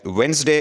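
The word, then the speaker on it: Wednesday: है इसके बाद है वेनसडे इसमें डी साइलेंट है बुत को कहते हैं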